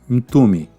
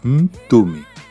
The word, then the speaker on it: Mtume: Joyce furto do grupo into me se você não conhece o nome é com m mudo no começo por isso a pronúncia é into me nome o sobrenome de